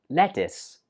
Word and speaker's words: lettuce: This one is pronounced lettuce. Lettuce.